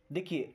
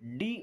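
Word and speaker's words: do: देखिए डी ओ इसे क्या पढ़ते हैं? डू। इसको दो नहीं पढ़ना है कि डी और ओ को हम दो पढ़ दें, दो पढ़ दें।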